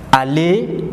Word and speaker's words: aller: It ends with re and it is pronounced faire. Faire. It means to do. Aller is also a third group verb.